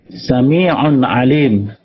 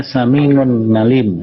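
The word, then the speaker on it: سميع عليم: Sami'un alim dibaca Sami'un ngalim. Nah, jelas salah. Itu salah pelafalan.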